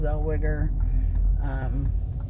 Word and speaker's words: Zellweger: I know Renee Zellweger, I'm not sure how to pronounce her name. Zellweger? Yes, Zellweger.